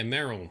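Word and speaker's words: Merrill: who did i romance in dragon age 2 merrell so did i pronounce that correctly yeah meryl that's who we romanced i was hoping we'd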